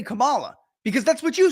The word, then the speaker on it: Kamala: pundits and media personalities calling her Camala all of a sudden we were told after two years three years that it's uh camela or however you say it well that's how human